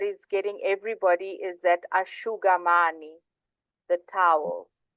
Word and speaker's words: asciugamani: So whenever you see an SCI, it's a sh. So it's a sh sound.